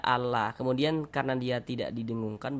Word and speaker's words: Allah: Kita baca Allah. Jangan dibaca anla, tapi dibaca Allah.